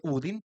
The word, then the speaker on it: Odín: La las auroras boreales se dice que surgen cuando el el eh cuando Odín, que no se dice Odín, sino en Noruego se dice Udin, este está feliz, está tranquilo.